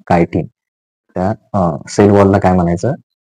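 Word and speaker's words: chitin: okay त्याच spelling बघा सी एच आय टी आय एन कायटीन त्या सेल वॉलला काय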